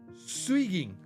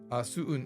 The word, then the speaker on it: 수은: 하지만 온도계 안에 있는 수은 must be 수긴? Wait. 수이깅 is how you say mercury. Sorry. 수은.